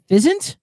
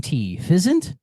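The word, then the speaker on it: Physint: Fizzant, phy N. Fizzant. I want to say pheasant, but that's probably not right.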